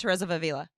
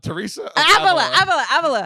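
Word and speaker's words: Teresa of Ávila: That's not how you say that, but I understand what you're saying. You asked me how to say it before we started, and I told Teresa of Avila? Teresa of Avila. You're like, Therese of Avila.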